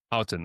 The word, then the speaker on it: Houghton: Houghton.